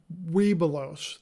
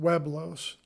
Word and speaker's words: Webelos: And at age 11, you transitioned into a division they called Webelos, Webelos. I heard some people pronounce it Weblos.